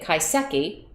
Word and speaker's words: kaiseki: uh are doing is actually it's it's they pronounce it kaiseki kaiseki and i'll tell a little bit about